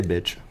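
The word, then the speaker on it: Bich: You can say bitch. Yeah, so that's it, the bitch. So It's spelled B-I-C-H. Yeah, like rich, but yeah.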